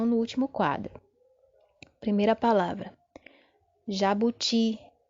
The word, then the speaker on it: jabuti: Jabuti. Jabuti. Perceba agora que a sílaba forte está na última posição, não é isso? Está destacada aí, ó. Jabuti.